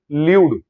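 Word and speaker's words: lewd: Okay, next है पास ल्यूड comments, ध्यान रखना प्रोनाउंसिएशन, ल्यूड, ल्यूड।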